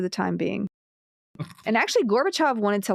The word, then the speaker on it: Gorbachev: Gorbachev uh it was I'm saying his name wrong gorbachov yeah it's always pronounced gorbachov gorbachov which always makes